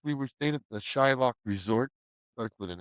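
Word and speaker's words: Xaloc: No Shillock starts a It's X A L O C. Well that was just how they pronounced it.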